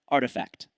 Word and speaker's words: RTFKT: It's pronounced artifact.